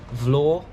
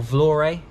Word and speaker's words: Vlorë: back to albania today i am in vlor or vlorey depending on how you pronounce it a city here